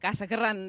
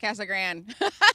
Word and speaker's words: Casa Grande: Because the one guy was like Casa Grande and the other guy was like Casa Grande. So, I mean, either way you win, right? So you can't however be wrong. You want to say it. I love it. No, I only roll my R's like a third of the time I attempt it, so I'm just going to go with Casa Grande.